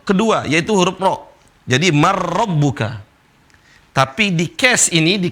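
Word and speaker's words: مَنْ رَبُّكَ: Gak boleh dibaca man, tapi dibaca marrabbuka. Seolah-olah nun gak ada. Dibaca marrabbuka.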